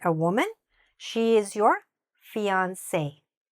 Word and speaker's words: fiancé: Fiancé.